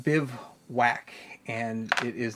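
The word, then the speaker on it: Bivouac: collection all right this is the bivwak it's pronounced Biv whack and it is not exactly whack it is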